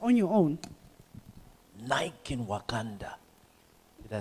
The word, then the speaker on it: Wakanda: Nike in Wakanda. Did I say it properly? Yes. Wakanda.